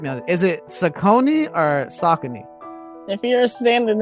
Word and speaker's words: Saucony: I think the correct pronunciation is Saucony, but you know, I mean, like, it's almost like you know better, you should do better. But let's get through the conversation, and I think it's Saucony.